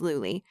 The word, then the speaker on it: Luly: It's not, ma'am, it's Luly. People are always mispronouncing my name like that.